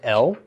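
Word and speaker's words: אֶל: This is Aleph Lamed with a segol under the Aleph, pronounced El. And El means toward.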